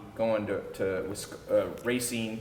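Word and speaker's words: Racine: out of poverty going to to with uh racing y That's how you pronounce it Racing Wisconsin and then you rising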